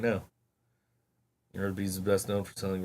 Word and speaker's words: Arby's: Instead, they chose the name Arby's, a phonetic pronunciation of the letters R and B, short for Raffle Brothers.